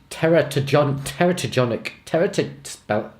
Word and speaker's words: teratogenic: Take the example of teratogenic, pronounce that however you want. I'll pronounce this damn thing how I choose. Teratogenic. That's the proper way.